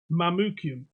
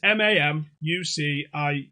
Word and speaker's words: Mamucium: I don't think it's pronounced that way. Well, it's Mamucium. I would have said Siam. Well, it's not. Siam. Mamucium. Yeah. Mamucium. Whatever. Mamucium. Mamucium, yeah. That sounds a bit. It's like Mancunian, but not.